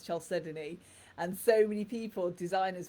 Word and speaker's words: chalcedony: learnt it so um chelsea donny is a great example um there's very few people that pronounce chelsea donnie as chelsea donnie it's normally known as chalcedony and so many people